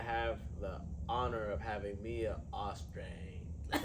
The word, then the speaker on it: Mia Austreng: And today I have the honor of having Mia Austreng.